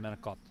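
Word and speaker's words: manicotti: an amazing cook and I think it's spelled m a n i c o t TI but my mom and grandma called them menot the Italian Americans have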